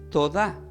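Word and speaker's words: תודה: Entonces del hebreo la palabra gracia se pronuncia como Todá, que tiene acento en la A, T-O-D-A, que indica también gracias, agradecimiento, pero hay un enfoque diferente en el hebreo.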